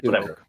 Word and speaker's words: toque: Phonetically, that would be pronounced toque. I enjoy toque.